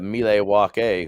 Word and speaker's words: Milwaukee: to shine hmm and Milwaukee's actually pronounced uh melee walk a which is Algonquin for the good land oh there you go